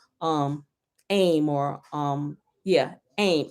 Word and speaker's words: Aim: or the sound um aim or um yeah aim it's it's spelled like aim a i am but it's really the feminine form of om so it's like oh